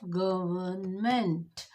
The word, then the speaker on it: government: N is like silent.